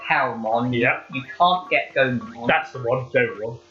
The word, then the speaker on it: Gomamon: want this game because I want to have Goramon." What? Crap, I said his name wrong. You said Goramon. What's the fish name again? Gomamon.